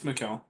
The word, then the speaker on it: Mikkel: Michael, am I saying it right? You're close. It's Mikkel.